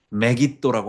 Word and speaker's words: 메깃도: 전쟁은 세상 사람들이 하르메게돈, 하르가 산이고 무깃도를 스가랴 11장 15절에 보면 메깃도라고 합니다. 무깃도라고 발음하지 않고 메깃도, 메겟돈 이렇게 합니다.